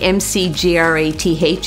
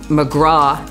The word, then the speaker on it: McGrath: a big fan of the seafood casserole surprisingly MC GRA th is pronounced in Newfoundland McGraw not McGrath so that's the first different thing